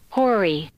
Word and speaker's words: hoary: it on Tim's bump Hori Hori Hori how do you spell that h o a ry and ones are like hoarfrost hoary the hoary hosts a pocket it's like be like or frost yeah it's a it's